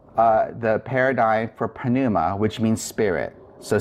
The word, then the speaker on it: πνευμα: let's say the paradigm for Pinilla so let's pronounce the paradise for Ponemah which means spirit so say it with me Panama Panama toss pannu mati Panama Panama tow pen